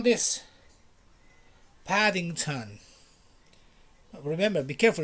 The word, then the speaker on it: Paddington: do you call this paddington remember be careful it's not paddington like in spanish no it's paddington paddington the t the t makes a difference british guy would say